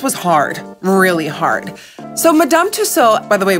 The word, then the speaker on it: Madame Tussauds: hard really hard so madame tusso by the way we pronounce it as madame tussaud here in holland so that's what i'm